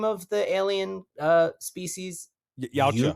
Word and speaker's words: Yautja: Yautja. Yucha?